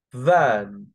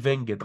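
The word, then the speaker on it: vingt: 20 فان. نطقها فان، محدش يقول فينجت غلط، نطقها فان.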